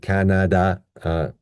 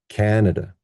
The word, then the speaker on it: Canada: pitch, and most importantly, we will change this vowel to uh, so we get n and d. So let's put it all together. Canada, Canada, Canada.